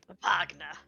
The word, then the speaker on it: Wagner: for you yeah yeah Vagner like the dragon I I was me more like the composer Vagner Vagner you say that